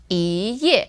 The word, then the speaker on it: 一页: And this is our tone change. Because here ye is fourth tone, right? So the E becomes E, ye. 一页.